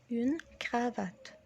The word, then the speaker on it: cravate: une cravate. une cravate اللي هي الكرافتة بالعربي. ونطقها برضو بالفرنسي بيبقى زي ما هو كرافات. الغ دي اللي هي الار، الار، كرافات كرافات.